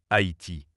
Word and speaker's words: Haïti: En effet, la graphie Haïti correspond mieux aux règles du français, le trément indiquant que le A et le I se prononcent distinctement Haïti, là où Haïti avec le Y pouvait prêter à confusion.